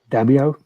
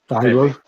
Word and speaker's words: Daimyo: Daimyo? Daimyo? Yeah, Daimyo.